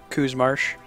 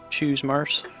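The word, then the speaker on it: Qu's Marsh: lets you go to Coos Marsh. Choose Marsh. In Romanized Mandarin, Q is pronounced CH, so I always want to say Chu.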